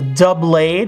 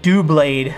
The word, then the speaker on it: Doublade: cool and there's a a Doublade or dblade I've heard people say both really I don't know I always say it like dblade I guess and I probably not right it's supposed to be double you know that's sort of the pun so I don't know I